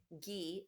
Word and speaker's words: ghee: Ghee is a clarified butter and it rhymes with key, so it's a kind of butter.